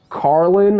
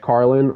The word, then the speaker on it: Carlin: Then George Carlin, I think this is how you say his last name, George Carlin. Was it Carl? Yeah, George Carlin.